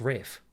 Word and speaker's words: Ralph: It's spelt Ralph here. I wasn't thinking, all right? Respect it. But the thing is, no, it's always spelt Ralph. It's pronounced Rafe.